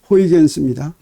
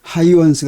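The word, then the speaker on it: Huygens: 호이겐스원리 이렇게 얘기했던 것인데에 호이겐스 하이원스 네덜란드 사람인데에 그 하이원스 이름을 영어로 쓴 걸 그대로 읽은게 호이겐스 아 그런데에 자기나라 발음대로 하면 하이원스 되는데에 한국 물리 학회에서 이제에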